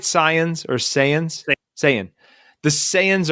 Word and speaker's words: Saiyan: Saiyans or Saiyans?